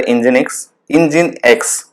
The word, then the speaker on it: Nginx: So now this is once it's updated, then we'll install the Nginx. So this is how it's pronounced. So let's install the Nginx now.